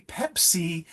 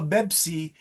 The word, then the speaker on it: Pepsi: speakers are really going to hear that it's mispronounced. My classic example is, may I have a Pepsi? I'm really thirsty, a Pepsi Cola. But if you say, may I have a Bepsi?